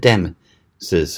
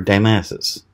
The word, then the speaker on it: Damysus: Yes, I said Damysus or Damysus. I've heard both pronunciations, and no, I'm not mispronouncing Damascus.